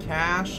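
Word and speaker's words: cache: Cash is the correct pronunciation, my friend.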